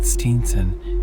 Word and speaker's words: Stevenson: My great-grandfather wrote the name Stevenson but pronounced it Steenson after the fashion of the immortal minstrel in Ray Gauntlet, and